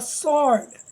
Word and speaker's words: sword: So first of all we have a sword. Sword means khanjar, chaku. So here W is a silent letter, we will underline it.